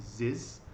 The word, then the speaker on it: Zyzz: Oh, you have the during that time back in 2011, there was a guy named Ziz, so it's spelled ZYZZ double Z.